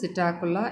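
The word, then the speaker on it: Psittacula: பெரிய இந்திய கிளியினுடைய அறிவியல் பெயர் சிட்டாகுலா யுஃபாட்ரா. இங்கே வந்து பி சைலண்ட்டுங்க, அதனால் சிட்டாகுலா யுஃபாட்ரான் தான் நாம் ப்ரொனவுன்ஸ் பண்ணணும்.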